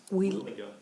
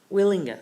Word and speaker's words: Wielenga: Agenda item number 5, site plan application SP 23031 of Craig Wielenga. Am I pronouncing that right? Wielenga. Wielenga, thank you, to amend a previously approved plan